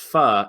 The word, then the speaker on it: pho: so so do so I used to say pho also and then I was eating with my